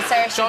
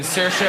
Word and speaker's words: Saoirse: i don't know um i'm gonna say sir sean are you hearing the subtle difference between cersei and sercia i am i'm just